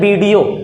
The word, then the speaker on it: video: वो होता है पिज्ज़ा, कभी भी इसकी पिज्ज़ा प्रोनाउंसिएशन नहीं होती है। अगला जैसे किसी ने कोई ग्राफी की वीडियो रिकॉर्ड किया तो कहते हैं वीडियो, असल में होता है वीडियो।